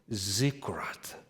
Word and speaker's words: ziggurat: The accent on the first syllable, zikkurat.